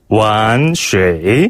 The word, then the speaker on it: 玩水: 玩水 완水 한 번 더, 玩水 완水 라고 해요. 예. 여기서 완이란 단어는요, 놀다, 장난하다 라는 뜻을 가지고 있는데요. 이 완자, 완성할 때 그 완자랑 발음이 똑같은데, 예.